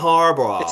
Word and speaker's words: Harbaugh: Say Jim It's Harbaugh. amazing to me because I can't imagine you can't pronounce this name.